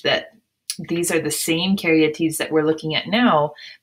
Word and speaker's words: caryatid: that Carrie at Eid and you say it like Carrie like you're carrying the porch a deed even though it says TI d it's TI t it's more like t ee d and you can see